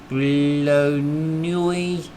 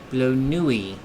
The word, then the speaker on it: Bleu Nuit: Bleu Nuit. Bleu Nuit. Okay. Bleu Nuit. Hmm. Uh pronounced like the b l in blue.